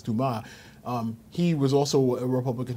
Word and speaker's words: Dumas: It looks like it's spelled Dumas, but it's Dumas.